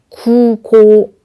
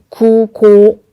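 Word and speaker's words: 空港: 먼저 왼쪽 볼게요. 급행입니다. 규고, 규고. 오른쪽 공항입니다. 구고, 구고. 큐, 쿠. 구분이 되시나요? 그래서 Q라고 할 때 요 U라고 하는 발음 주의해 주시고요.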